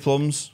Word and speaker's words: Plums: Dave Plums. Who's that? Oh, it rhymes with drums.